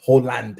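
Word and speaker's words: Haaland: all Tom don't let them bully you about Holland Holland Holland in fact is the correct way to pronounce it like that's how you that's how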